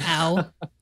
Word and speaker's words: Ow: He has one of the best Twitter handles around. It's at Ow. Or probably you pronounce it at O, but yep. I say Ow whenever I read it. It's Ow.